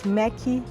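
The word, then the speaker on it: Méqui: and that's because it's the way that Brazilian people pronounce the word Mac in a kind of a Brazilian way so it's mechy 1,000 is the number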